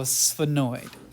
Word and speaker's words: sphenoid: for Simplicity so annoyed just make an S like hiss like a snake and then go sphenoid phenoid and so this